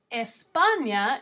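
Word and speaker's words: España: letra e is Espana Espana is how you say the country Spain in Spanish Espana is in Europe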